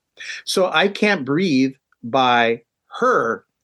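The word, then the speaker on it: H.E.R.: So I Can't Breathe by Her. It's written as capital H period, capital E period, capital R period, but my understanding is it's pronounced Her.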